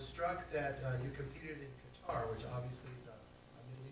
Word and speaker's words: Qatar: I actually didn't go to Qatar, or Qatar, as it's pronounced.